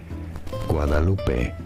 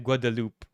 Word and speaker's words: Guadalupe: Guadalupe. Guaval. Yeah. The the country though. The country. the country. Um, anglicized pronunciation. Guadaloop.